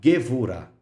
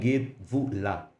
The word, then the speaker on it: Gevurah: Geburah e Gevurah. Muitos também pronunciam Geburah e Gevurah, né?